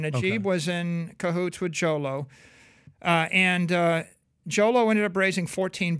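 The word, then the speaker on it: Jho Low: Who was Jolo? Yeah. Jolo, not J-Lo.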